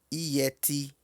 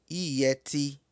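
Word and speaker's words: yẹtí: Brinco pronuncia-se ieti. Ieti. Note que o Y tem um som de I duplo. Ieti.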